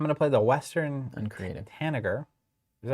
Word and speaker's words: tanager: Soft G. What's a soft G sound like? Tenure. Good. Tenor. Like a J? Yeah, I think it's tanager. Tanager?